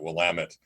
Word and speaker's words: Willamette: to tell you is that in Oregon we pronounce it will lament people here we it's sensitive to will immedi